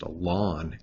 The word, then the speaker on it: ln: last little thing here this ln is often just pronounced alon x okay and that would